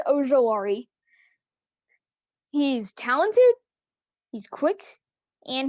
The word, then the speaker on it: Ojulari: I usually get it mixed up with Ojulari, but it's Azeez Ojulari.